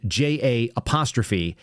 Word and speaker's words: Jahan: I'm only saying it that way because his name is spelled J-A-H-A-N. Jahan.